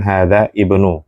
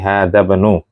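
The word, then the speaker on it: هذا ابن: sehingga bacanya bukan hadza ibnu tapi had bnu tib eh hadza sudah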